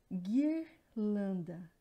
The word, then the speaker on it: guirlanda: Observem que tem o GU, guirlanda. Eu não pronuncio o U, então, e o QU é a mesma coisa, não tem a pronúncia do U, questão.